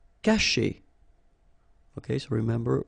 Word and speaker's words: cacher: Cacher. Okay, so remember, when you combine this C and A, you get the sound K, okay?